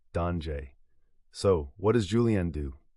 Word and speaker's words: danger: It's the same word in English and French, but pronounced differently, danger.